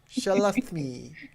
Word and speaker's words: Shalathimi: These are my companions, Erda, Shalathimi. Shalathimi. No, say it like Smee, but with a lisp. Smee. Me. Me. Shalathmi.